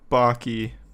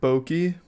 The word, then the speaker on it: Baki: Five Nights at Freddy's or Baki. It's pronounced Boki.